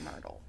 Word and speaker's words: Myrtle: I didn't finish it myle we'll say it's pronounced myrdle yeah Myrtle Myrtle Myrtle okay Myrtle